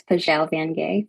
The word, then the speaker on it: Pajau Vangay: Um, maybe I should just I know my name is very difficult to pronounce and so it's Pelle Vanay for anyone who's wondering.